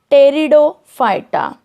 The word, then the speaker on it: Pteridophyta: Division 3, Pteridophyta. Students, just see the spelling. Here P is silent in the pronunciation.